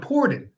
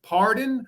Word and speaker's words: Pordon: gets it right okay so it's uh it's Pon but listen I've been called pardon I've been called parone so all the people